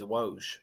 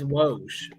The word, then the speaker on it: Woj: The correct pronunciation is Woj. It's Woj.